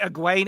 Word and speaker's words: Egwene: Egwene Alvera. Egwene. Edwina Alvira. Close. It's supposed to be Egwene Alvir.